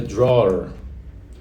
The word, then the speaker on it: drawer: Lembra que não é drawer. É drawer. Drawer. É uma pronúncia bem chatinha essa. I could open the drawer. Beleza. É uma pronúncia, é um som, por exemplo, que a gente não fala em português.